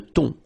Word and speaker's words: thon: Remember, H here is not pronounced. Le thon.